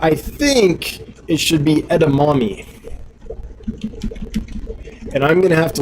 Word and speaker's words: edamame: to spell but hashtag e-d-a-m-a-m-e edamame and um yeah steven will know why people that watch his videos will know why mainly because it kind of rhymes with gourami so steven thanks again